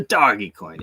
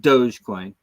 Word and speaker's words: Dogecoin: to a dollar the doggy coin and I know it's supposed to be pronounced Dogecoin but I called it doggy coin for years before anybody ever told me it was Dogecoin and I can't get